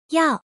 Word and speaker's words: 要: This word is pronounced as follow. Yao.